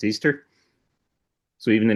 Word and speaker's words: Ishtar: Inanna is also known I've always pronounced it Ishtar, but apparently it's pronounced Easter.